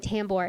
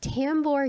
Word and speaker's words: Tambour: of tambor yokel and i'm saying tambor it's spelled t-a-m-b-o-u-r sounds like uh like a bath and body works like uh soap person like a scent yeah center wash my